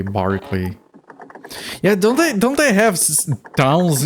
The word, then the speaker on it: Berkeley: British E can be pronounced like Derby, Berkeley, Barkley.